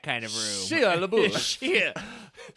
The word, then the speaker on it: Shia: Shia. I believe that's the proper way to pronounce it.